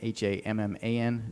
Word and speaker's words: Hammond: It's Hammond, Hamman, not OND.